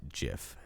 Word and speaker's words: GIF: of gifts and and what excuse me it's pronounced jiff anyways so and then the the only other